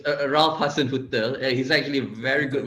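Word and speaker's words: Hasenhüttl: far okay educate us okay it's a ralph hassan hotel he's actually a very good manager from my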